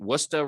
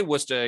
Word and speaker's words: Worcester: is the director of woox Productions with the wora Red Sox known to friends as the woox first of all Tim how' I do pronouncing wora I think you did a lot better than